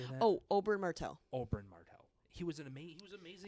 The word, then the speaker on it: Oberyn Martell: Oh, Oberyn Martell.